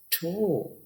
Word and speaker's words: toe: तुम देखिए टे की आवाज है, और दूसरी आवाज ओ और ई, इनमें से ई की आवाज नहीं है, खाली ओ की आवाज है। ठो, तुम देखिए ओ, तो बनेगा ठ ओ, ठो।